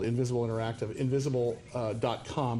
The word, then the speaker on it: Ynvisible: of a company called invisible interactive invisible dot-com but invisible is spelled with a y in front versus the I if you're let's do